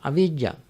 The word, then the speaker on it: avijjā: It's not the same as avijjā. Avijjā is spelled as A-V-I-J-J-A, V.